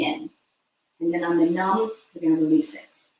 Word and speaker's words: nam: S s a t pronounced sut and then numb like comfortably numb n u n um